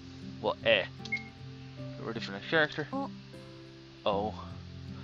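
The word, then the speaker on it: え: It's eh. Okay. Makes sense. It's pronounced eh.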